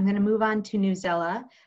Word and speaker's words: Newsela: I'm going to move on to Newsela, or News ELA. I've heard it pronounced both ways, so I'm not actually sure which way is correct.